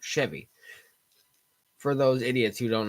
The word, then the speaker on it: Chevy: an sh it's a CH Chevy but it's pronounced Chevy for those idiots who don't know anything about